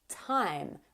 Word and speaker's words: thyme: There you have it, 5 words that are spelled with TH but don't sound like TH. In fact, they sound like a T sound.